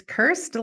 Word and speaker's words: Kirst: She said it's Kirst like first, so just spell it with a K.